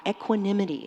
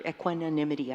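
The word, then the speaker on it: equanimity: ago by William Oller equinimity in medicine. the idea that we should or equinonymity, I always leave out a syllable, that we should be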